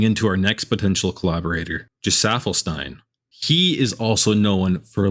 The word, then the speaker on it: Gesaffelstein: Cal actually taught me how to say his name correctly because I've been saying Gesaffelstein, but it's Gesaffelstein.